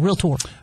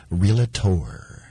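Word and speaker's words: realtor: just it's one syllable real Tor realator not realator it's two syllables actually real tour she a realator no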